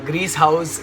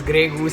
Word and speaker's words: Grease House: Yeah, during my last Q&A, I pronounced Grease House exhaust as Grey Goose exhaust, and there were two people commented that I'm thinking about vodka, but it's not.